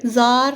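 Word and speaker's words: tsar: Russia was rule by जार Nicholas to उस समय Russia के किंग जार गलस टू थे इसमें टी एस ए आर लिखा है टी साइलेंट होता है इसलिए जार बोला जाता है तो रशियन रिवोल्यूशन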